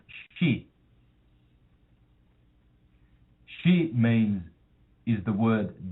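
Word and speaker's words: 四: In my wife's country, Japan, um the number four is pronounced she.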